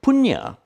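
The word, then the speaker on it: puñña: do an act of punya in in thai they just pronounces pun and they'll drop off the last syllable they talk about the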